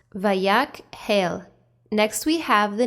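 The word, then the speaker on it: Vayakhel: word the name of our torah portion is pronounced vayak hail next we have the name moshe to all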